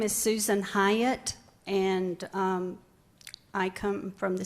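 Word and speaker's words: Hiott: And it's Hyatt, like the Hyatt Hotel, but you spell it H-I-O-T-T.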